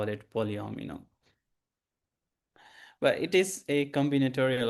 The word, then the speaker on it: polyomino: So the correct pronunciation to this is polyomino. So it's like you can distinguish into two words maybe maybe then it can be easier polyomino but when you just